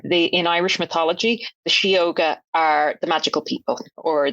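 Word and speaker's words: sióga: handle is shoga Yoga so shoga is spelled SI o g a um it's an Irish language word so it's shoga do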